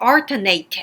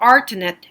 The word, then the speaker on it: alternate: 그리고 alternate 할 때 alternate 해도 되고 alternate 해도 돼요. alternate route 이렇게 두 개 다 가능합니다.